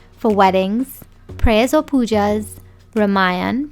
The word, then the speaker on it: Ramayan: weddings, prayers or poojas, Ramayan pronounced "Ramine", and religious festivals such as Diwali, Eid and Phagwa.